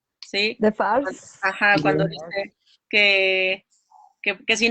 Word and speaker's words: Defarge: ¿Cómo se pronuncia la señora Defoe? Defarge. Sí. De Farce.